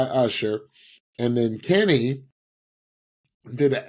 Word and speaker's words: Usher: And that's by, I love how Stephanie pronounces his name. Ursher. That's how he Ursher. By Usher.